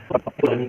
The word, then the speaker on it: Ptolemy: तो इनके जो दूसरे ग्रीक मैथमेटिशियन थे उनको कहते हैं टॉलमी। पी यहां पर कांस्टेंट होता है टॉलमी की स्पेलिंग में।